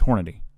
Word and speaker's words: Hornady: but that's like the thing so no it's hornady okay calm down but i carried hornady critical